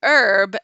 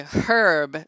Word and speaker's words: herb: you say centrifugal we say centrifugal you say herb and we say herb because there's a H there